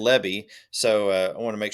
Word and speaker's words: Lebby: I get going talking quickly, and I was pronouncing his name Libby, and it's Yeah. Lebby.